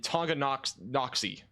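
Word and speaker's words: Tonganoxie: eventually going towards Reno and tongo noxy that's how you pronounce that that new radar scan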